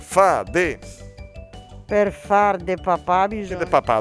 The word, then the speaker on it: papà: Per far de papà Che bisogna... de papà, dove sta l'accento? Papà.